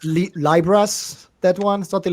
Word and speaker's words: Lybra: How should we pronounce it now? Libra or Libra? Libra. Always Libra.